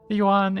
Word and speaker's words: yuan: This Chinese Huan Huan Juan Yuan is the currency here. The word is one syllable.